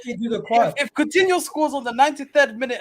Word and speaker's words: Coutinho: Or Coutinho. It rhymes with Aguero, so you know it is possible.